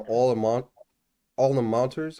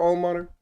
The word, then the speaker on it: alma mater: Why are people so obsessed with their all-in-monters? How do you say it? Alma All-in-monters? mater. All-in-monters? Yeah, Ama. Mm-hmm. And like, would you do this for your alma mater?